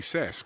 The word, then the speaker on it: SAS: Joe Keenan Zed but if you're pronouncing it correctly because Corey's in my ear again it would be sass but SAS docto means